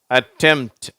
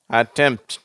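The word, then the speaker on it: attempt: மாதிரி வந்திருக்கு பார்த்தியா பார்த்தீங்களா அப்ப இதை நம்ம எப்படி உச்சரிக்கிறோம் டெம்ட் அந்த பி என்ற உச்சரிப்பு வரதில்லை அட்டெம்ட் சிம்டம் ஓகேவா டெம்ட் அட்டெம்ட் சிம்டம் அடுத்தது பாருங்க எஸ்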